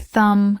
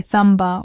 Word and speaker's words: thumb: Another common one is the silent B after M. Words like thumb, comb, lamb, and bomb have a silent b. Again, you don't say thumba or bombu. Just say the word without the b sound.